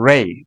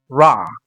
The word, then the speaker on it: Ra: of ancient Egypt, they call him Rah or Rey as people pronounce it as Rey. Ra or the actual word, the actual pronunciation of it is Rah.